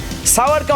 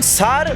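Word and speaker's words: sour: একটা বহুল প্রচলিত ভুল উচ্চারিত শব্দের মধ্যে সাওয়ারকে অন্তর্ভুক্ত করা যায়। অনেকের উচ্চারণ সার বা সুয়ার মনে করেন, যা ভুল। পাওয়ার বা শাওয়ার, এর সঙ্গে ছন্দ মিলিয়ে উচ্চারণ করুন সাওয়ার।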